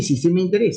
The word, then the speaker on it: SOI: Entonces, SOI, que es sistema de interés, se pronuncia así, sistema de interés, se dice sistema de interés. Que el escrito dice SOI, dice, y menos soy, pues, porque soy, se refiere, está mal.